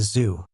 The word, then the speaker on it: Zu: "And this little creature is a zoo. That's spelled Zu.